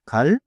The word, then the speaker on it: 갈: First 갈 좋아요. Little air relaxed start.